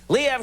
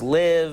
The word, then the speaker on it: Liev: your name correctly, and I was saying it's Liev, it's Liv, and they were saying no. Pronunciation is Liev.